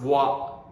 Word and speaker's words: は: ha, though we pronounce wa. And we don't know that. We Japanese don't think about that at all. So yeah, it's funny, right? So it's written ha, but we pronounce wa.